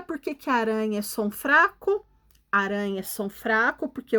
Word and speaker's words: aranha: no meio da palavra na palavra aranha a letra r representa som fraco fraco porque ele está sozinho no meio da palavra e na palavra serrar